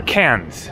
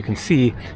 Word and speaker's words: Cairns: so to speak of can here or cans I keep a confusing Cairns Australia with can France both of which are not pronounced the way that they seem like they should be so there you can